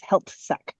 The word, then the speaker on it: Heiltsuk: So Heiltsuk First Nation is really hard to pronounce, and the anglicized version of it is Heiltsuk.